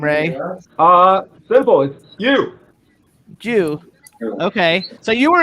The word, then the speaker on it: You: How do you pronounce your last name, Ray? Simple. It's you.